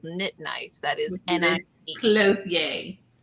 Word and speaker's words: Clothier: But Liz Clothier and Therese and Jo, they just started a podcast called Knit Night. That is N-I-E. Clothier. Clothier. Say it right. Right. I ain't French.